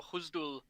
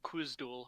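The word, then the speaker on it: Khuzdul: So Huzdul, or Kuzdul as it's spelled, has a tricontinental system like all Semitic languages, Mm-hmm.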